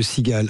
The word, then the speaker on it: Seagale: Alors ça s'écrit S e A G A L E. Il y a un petit jeu de mots quand même au passage hein. C'est ça exactement. Tout simplement en fait la sigale Toulon comme la marque